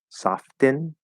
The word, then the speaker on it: soften: and i can say it's soften softin it's gonna get sort of that little bit more like almost sounds kind of like a d-type sound because it wants to